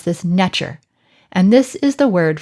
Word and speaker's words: nTr: second t and r in modern times we pronounce this nectar and this is the word for god in